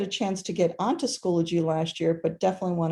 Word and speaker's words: Schoology: schoology so it's not schoology where i've i've heard it said that way it's schoology like biology schoology um it is